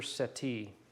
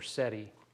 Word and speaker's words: settee: right now this is called a windsor settee or seti however you want to pronounce it and it's spelled s-e-t-t i've made windsor chairs